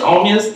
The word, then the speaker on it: Omeus: Omeus. Omeus, you're Haitian.